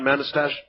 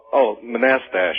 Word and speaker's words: Manastash: How do you pronounce the name of your town, Manastash? Manastash.